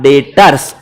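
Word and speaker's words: debtors: को नाम दिया गया डेटर्स बोलो एक बार डेटर्स कैसे बोलोगे डेटर इसकी स्पेलिंग होती है डी ई बी टी ओ आर एस डेप्ट्स नहीं बोलने का डेटर्स है बी साइलेंट है उसमें मेरी गलती नहीं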